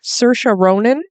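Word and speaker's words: Saoirse Ronan: Cersa Ronin. Would you have guessed that's how you pronounce that?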